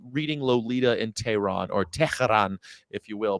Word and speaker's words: Tehran: Tehran. Not Tehran. There's no cha. Tehran. They say it 3 syllables. They say Tehran. No, they don't, man. It's Tehran. Before Simigim, Tehran. Tehran. It's 2 syllables.